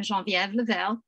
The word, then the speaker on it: Genevieve: as meta said i'm jean-viville she pronounces the english way i pronounce it the french way uh i was born